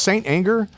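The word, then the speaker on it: St. Anger: It's pronounced Saint Anger. I don't know what the fuck. I've always pronounced it Stanger.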